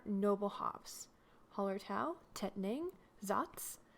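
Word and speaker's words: Saaz: hops holler tau tetaning zotz which is spelled s a a z and spalt i've seen a lot of the helleses in the us using holler tau for this beer and occasionally zots helluses have a medium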